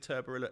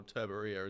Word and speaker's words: Turborilla: Is it Turborilla as in Godzilla or Turbaria as in like a Spanish tortilla?